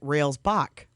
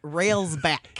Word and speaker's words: Railsback: I wanted to pronounce it Railsbach, Okay, of course you did. but it ends in a K.